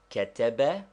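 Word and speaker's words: كتب: one under it nine is there any English word or name which will give us the pronunciation of ketebe yes take the word Canada there is a slight stress upon the first syllable but not enough to make it a long vowel we do not say Canada still less Canada simply Canada 10.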